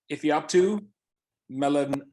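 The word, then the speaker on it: Ifeatu Melifonwu: a fetus could not find a way to pronounce that name it's all right it's uh it's uh if you're up to melanwe yeah this is a guy that he's again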